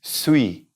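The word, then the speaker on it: suis: here we're gonna put sweet sweet now that's spelled Sui s movie because it's you I and at the end s don't say it sweet now let's put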